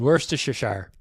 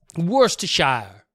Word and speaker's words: Worcestershire: county as well sistershire in england it's worcestershire he's just he's just so dumb i love that one worse to shower worse to shire i need liam to